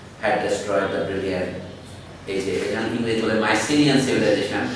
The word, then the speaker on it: Mycenaean: destroyed the brilliant English Mycenaean civilization, the Greek word is Mukinian civilization. Y in Greece is always pronounced as U and CSK. That is Mukinian.